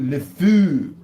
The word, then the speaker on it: le fou: The fou, le fou. That's how you say it in French.